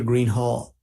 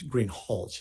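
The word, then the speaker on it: Greenhalgh: you your honor officer Greenhall I believe I mispronouncing your your name it's green hch isn't it correct okay I apologize will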